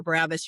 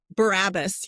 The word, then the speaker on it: Barabbas: the concern, you're not yelling for Jesus or Barabbas.